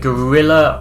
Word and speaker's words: guerrilla: And it's not guerrilla with an O. I know it sounds like it is, listeners, but it's spelled differently.